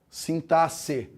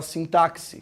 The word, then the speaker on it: sintaxe: que ó com a maneira correta de falar essa palavra sintaxe sintas e tem gente fala sintáxi sintáxi está errado tá não pode falar desse